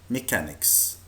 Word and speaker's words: mechanic: They are mechanics. mechanic. خلي بالنا مجموعة الحروف CH في بعض الأحيان بتنطق ك. Again, mechanic. mechanic.